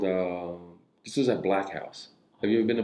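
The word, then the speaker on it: Blaq House: like in North Hollywood black house yeah black yeah it's and it but it's spelled b l a q house it's spelled like that black housea yeah and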